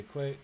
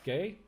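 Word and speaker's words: Guay: I Okay, so we've got lots of people in chat coming back with Rebecca Quay. How do you pronounce that? think it's Gay. G-U-A-Y? Gay? Rebecca Gay? Yeah, just Rebecca Gay.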